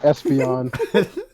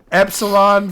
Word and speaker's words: Epsilon: Solon, not Espion. Espeon's a fucking Pokemon. Fuck! It's spelled Epsilon, bro. Epsilon for doing his best to take He is care.